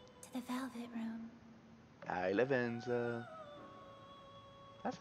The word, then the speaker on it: Lavenza: played it welcome to the velvet room hi lavenza that's not even nice yeah that's how you pronounce it yes i know not whether to